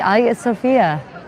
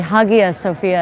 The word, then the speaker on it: Hagia Sophia: Welcome to the Ayat Sophia or the Hagia Sophia as some people mispronounce.